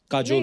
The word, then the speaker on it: Kajol: बड़ा यूनिक नाम है आपका, काजोल। काजल है ना, बट काजल होता है, काजोल हाँ, मतलब बंगाली में काजोल।